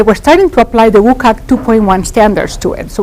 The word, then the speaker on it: WCAG: WCAG, WCAG, it stands for the World Wide Web Consortium Web Content Accessibility Guidelines, and it's usually pronounced by a lot of people as WCAG.